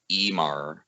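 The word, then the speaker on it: Ímar: describe a guy named emar like i am a r in the way we view our script but the way their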